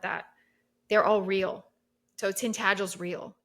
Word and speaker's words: Tintagel: But so by the way, I know it's another pronunciation. So it's Tintagel. It's Oh, Tintagel Castle. Tintagel.